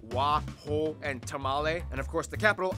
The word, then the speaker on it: Tamale: The country is made up of 10 regions with some interesting sounding capitals like Wa, Ho, and Tamale, and of course the capital Accra. Yes, Interesting. that's how you pronounce it, Accra, located in the southeast along the coast.